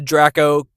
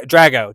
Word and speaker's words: Drago: Um, we do have a Dra a Draco a Draco cast. I'm not familiar with the actor. I don't can't say his name. The Draco cast. Draco. Dra. Drago.